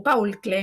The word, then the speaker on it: Paul Klee: En Paul Klee, o Paul Klee, mejor dicho, como se pronuncia en alemán, este artista suizo que